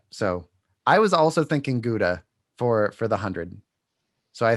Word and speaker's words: Gouda: It's just Gouda is good and is good for a Gouda also. You're making another face. Gouda? Is that how they say it? Gouda? Nope. Gow. Gow. Gow like cow.